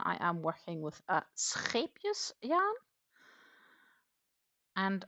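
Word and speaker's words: Scheepjes: a scus yarn and I should be able to reasonably pronounce the word scus correct because it is a Dutch brand uh but that said I am not having the 100% Dutch accent but I am getting reasonably close okay again that would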